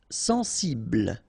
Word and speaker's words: sensible: Sensible. Okay, final E not pronounced. Bl will be the last sound.